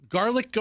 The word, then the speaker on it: Garlic Go: Is it Garlic Go or Garligo? How do you spell it? No. Okay, just as in go. Garlic as in Garlic, and then go. G-O. Garlic Go.